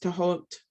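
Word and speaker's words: Thoth: combination of hermes and tahoe or those the egyptian god it's actually pronounced to halt but i think colloquially in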